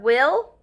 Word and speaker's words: will: there's only one word we will pronounce the word will and make one l sound let's say it together